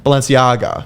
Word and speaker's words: Balenciaga: yeah balenciana lopez valenciaga balenciaga so you really pronounce the g yeah okay cool not lasagna and it's not baloney